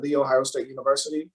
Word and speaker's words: The Ohio State University: to graduate school at the ohio state university that's the right way to pronounce my alma mater earn a master's